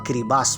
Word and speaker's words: Kiribati: Kiribati. Ada sebuah negara kiribati ternyata dibacanya adalah kiribas pemira. Ti itu S.